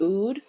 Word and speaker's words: oud: So I know, a lot of people use, I think it's pronounced oud, O-U-D, rose, lavender.